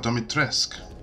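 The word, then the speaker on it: Dimitrescu: Oh, Domitresk.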